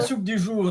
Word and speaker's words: soupe du jour: Yeah, la soupe du jour, the soup of the day.